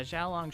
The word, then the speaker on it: Syaoran: which brings us to leisure on or a shower run or shaolong yeah shaolong should be the right pronunciation first brought into Cardcaptor